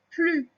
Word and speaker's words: plus: Et là, dans cette configuration-là, le S, il est muet. On ne l'entend pas quand on dit il n'y en a plus, ni il n'y en a plus.